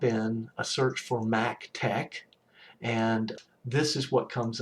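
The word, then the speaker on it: TeX: this requires extra software tech that's how this is pronounced like it's spelled t-e-c-k so tech so mick tech for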